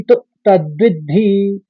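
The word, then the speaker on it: तद्विद्धि: ले लिया और धी यहां पर आघात का मतलब है कि पहले आपको द बोलना है फिर धी आएगा तो पहले चरण को इस तरह से उच्चारण करेंगे अविनाशी तदविद्धि दूसरे चरण में तीन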